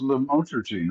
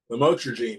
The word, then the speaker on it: lamotrigine: Lamictal is lamotrigine, right? That's how you say it. Yeah, lamotrigine is Lamictal.